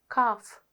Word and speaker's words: calf: L sound highlighted, but in one word you hear the L sound, bulk, and in the other words you don't hear the L sound. L is silent. Walk, calf, balm.